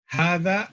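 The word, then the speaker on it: هذا: ல்லா தால் வேற புள்ளி வச்சிருக்கிற தால் வேற இது புள்ளி வச்சிருக்கிறதால் ஹதா ஹதான்னு சொல்லிடக்கூடாது ஹதான்னு சொல்லக்கூடாது ஹதா ஹதா பைத்துன் பைத்துன் அப்படின்னா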